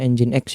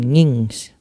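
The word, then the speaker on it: nginx: dan Yes saja myqld engine X ini bacanya engine X ya teman-teman bukan ngings Oke setelah setelah running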